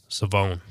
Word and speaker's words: Shavon: Rebel was actually pronounced savone um I knew I had been told that the H wasn't there so I did know